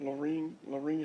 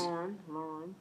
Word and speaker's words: Lauren: That is, I'm saying it right, ain't it? Laureen? It's Miss, Lauren. it's Miss Lauren here.